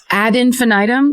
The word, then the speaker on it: ad infinitum: You need the it's a Latin phrase. So I think you need the ad part at the beginning.